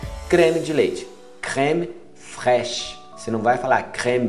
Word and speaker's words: fraîche: creme de leite, crème fraîche. Você não vai falar crème de lait, não, é crème fraîche. Fraîche, crème, não fala crème, crème, fraîche, para no CH, não pronuncia o E, fraîche.